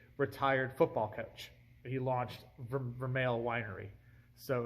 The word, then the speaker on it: Vermeil: Okay, so you could pronounce it Vermeil, if that's how the French is, like Versailles. So it could be Vermeil. Vermeil is actually the English pronunciation, and you have to